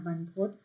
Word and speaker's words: บรรพต: อุปกรณ์ การ เขียน เนาะ บรรพต อ่าน ว่า บรรพต banpodj ตัว นี้ แปล